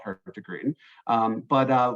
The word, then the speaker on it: Hurtigruten: and why we're called her to Green um but uh we've broken it down here phonetically so it's her ta group her degree we know we're hard